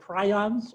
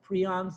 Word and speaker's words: prion: self-assembling in their brain they're called prions or prions depending you want to pronounce it the american or the british way but these are prions